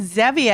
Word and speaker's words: Zevia: It's like Zevia. Is it Zevia? Well, it is Zaba. probably, I think it is, honestly, it probably is Zevia because it's based on stevia, the artificial sweetener.